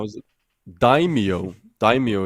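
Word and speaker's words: daimyo: how is it daimo daimo is the correct pronunciation in feudal Japan it is one of the great lords lords who were vessels of the Shogun.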